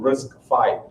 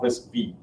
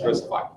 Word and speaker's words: RISC-V: And so they crafted this thing that eventually was called RISC-V. It is pronounced as 5, not RISC-V.